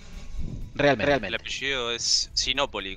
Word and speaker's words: Sinópoli: Es Sinópoli, con tilde en la primero, sí o sí.